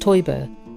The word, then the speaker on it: Teuber: There’s recently been some sad news in the Catan family: its creator Klaus Teuber (pronounced Toy-Burr) died in April.